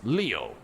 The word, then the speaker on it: Leo: vulnerable leo anayog aneokoji it is written with the kanji for lion to be sure but it's pronounced leo i write i wager